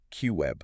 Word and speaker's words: QIB: A specific subset of institutional investors called qualified institutional buyers or QIBs pronounced Q web.